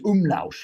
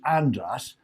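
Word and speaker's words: András: Last week, we spoke to a lovely man who John kept getting his name wrong, saying it was Umlaus or something. Yeah. And we all knew it was Andras.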